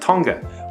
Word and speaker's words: Tonga: Stamps pre-mid-1940s spelled Tonga without the N, although it is pronounced Tonga with the N.